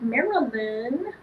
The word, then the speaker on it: Marilyn: Or with Marilyn. That's pronounces it. With three syllables, the way my mama meant it to be pronounced.